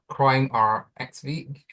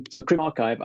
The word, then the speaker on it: CrimRxiv: CrimRxiv, actually, we are thinking about changing the name because people do pronounce it incorrectly quite often. Because the RXIV is not that clear, is it? But it is archive, and it's the discipline's